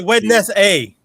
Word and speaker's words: Wednesday: No, the D is silent. That's what you say. Wednesday.